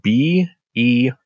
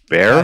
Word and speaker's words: Behir: Bear? Behir. Behir. Just call it Behir leather. This is the place in which you bet. Bah. Not that. Oh, Behir. bet, not ba. Behir.